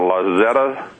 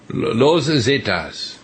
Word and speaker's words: Los Zetas: The Zetas, that's the, how do you pronounce it, La Zeta? Los Zetas. Los Zetas, okay.